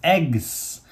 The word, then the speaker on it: EGCS: egcs dotg g z that's pronounced eggs and that was a